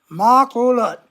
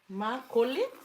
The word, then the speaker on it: makulit: Makulat. Huh? Makulit? Because you guys do two syllables. So ma, ku, l, it, lut. Makulit.